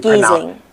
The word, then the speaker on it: Giesing: So my last name is G-I-E. So the I is silent because it's German. So and it's then you Giesing.